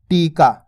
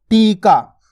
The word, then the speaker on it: टीका: टीका। अगर बोलते हैं टिका, टिका, तो देखो छोटी ई की मात्रा का उच्चारण हो रहा है यहाँ पे, टिका। अपन बोल रहे क्या? टीका।